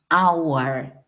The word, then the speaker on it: hour: una cebolla o en Hour una hora miren que aquí no dice Hour no dice Hour es como si no est H no existiera ahí es la H muda que nosotros también tenemos